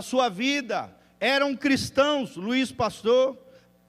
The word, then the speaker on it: Pasteur: Louis Pasteur, sei lá como é que se pronuncia, francês, Pasteur, isso aí mesmo, glória a Deus, Deus te usa, irmão.